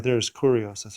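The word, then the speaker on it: κύριος: are ours so the word right there is correos that's how you pronounce it from kurose which is supremacy but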